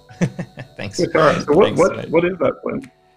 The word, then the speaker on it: tuatara: Steve helped me out with the pronunciation before. Tuatara. Thanks. Tuatara.